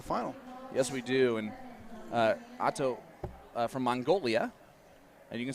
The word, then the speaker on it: Otto: Now, how do you say her name? She said go by Otto.